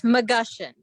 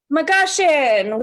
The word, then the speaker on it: McGushion: It's McGushion. McGushion, McGushion, creative partner.